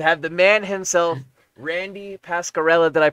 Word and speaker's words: Pasquarella: i'm honored to have the man himself randy pascarella that i pronounce that correctly by the way yes pascarella okay fantastic he's in uh well you've been